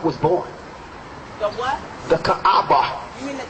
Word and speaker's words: Kaaba: born the what the Kaaba you mean the Caba yes you can pronounce it potatoes potatas Caba Caba it doesn't matter listen the cabba stone